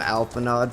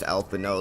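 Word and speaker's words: Alphinaud: I got a wind-up Alphino. I called him Alphanod for the longest time, dude. Because I thought that Alphanod was his name, because that's how it's spelled, but it's actually pronounced Alphino Levier.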